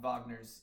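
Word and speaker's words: Wagner: damage on uh walk Vagner's um left leg. And the reason I'm saying Vagner is because that's how you say his last name. Really? I didn't know. Well, it's spelled with a W.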